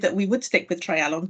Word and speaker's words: Treialon: quite like it but here is a simple approach to trying to remember how to pronounce it it is not hard it is essentially a try if we're Welsh we know what tries are um maybe the pub landlord